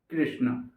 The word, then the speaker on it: कृष्ण: कृष्ण तो याद रहे जब भी हमें ये बोलना है कृष्ण इसका जो उच्चारण स्थान होगा वो मुर्दा होगा और मुर्धा का उच्चारण स्थान के लिए हम बोलेंगे कृष्ण कृष्ण कृष्ण थोड़ा सा अटपटा तो लगेगा पर रियालिटी है हम हमेशा कृष्ण का जो उच्चारण करते हैं वो गलत तरीके से करते हैं तो इसको आपको याद